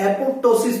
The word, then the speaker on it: apoptosis: इसको P silent के साथ एपोप्टोसिस भी बोला जाता है।